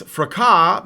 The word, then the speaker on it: fracas: Thank you, in Capistan, and says it's fracas because it's French. So that makes perfect Of sense. course. You guys would put a silent S at the end of a word and expect all of us to ignore it.